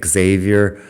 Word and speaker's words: Xavier: I've also been questioned about my pronunciation of Xavier. That's apparently just how we pronounce it in English. I am well aware that the X at the beginning of that name should be pronounced like like Javier.